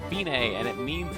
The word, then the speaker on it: Fine: of note we're counting with it looks like fine but it's pronounced fine and it means it's the end the finish